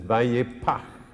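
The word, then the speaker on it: ויפח: And where it says he breathed, in Hebrew it says vayipach. Yipach. Phonetically, the P sound is called a plosive. It's an explosion. And then there's a het, which no ordinary English person can say, but the Scots can say it, loch.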